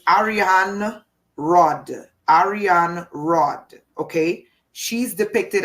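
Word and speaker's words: Arianrhod: this is the Celtic goddess I can never pronounce the name properly it's Ariane Rod Ariane Rod okay she's depicted as a spider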